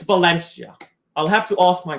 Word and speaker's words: Valencia: Uh the V in Spanish is pronounced like a B. So it's pronounced Balencia.